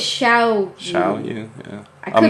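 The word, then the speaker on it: Xiaoyu: Zhao Yu, is that I how you want to say say that? it's Xiao. Xiao Yu, yeah.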